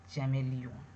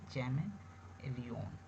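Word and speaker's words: chameleon: तो इसको हम लोग पढ़ेंगे चैमेलियन, चैमेलियन यहाँ पे ई को ए कर देंगे चैमेलियन, चैमेलियन।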